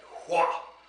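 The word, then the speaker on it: hwa: And the sound that they use for that is H-W-A. Hua! Hua! Hua! Hua! Now, if you say it wrong with a tight throat, it'll give you a sore throat after a while. So you have to keep your throat open.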